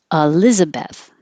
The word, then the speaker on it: Elizabeth: a career in Korea Elizabeth you can say Elizabeth but it's very correct and since the E is not stressed most people will change it to uh or E Elizabeth I say Elizabeth but Elizabeth nicknames could